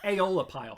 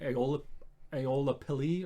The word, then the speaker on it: Aeolipile: Aeolipile.